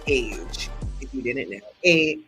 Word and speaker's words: Age: Adriana and but she likes to be called age if you didn't know a g e and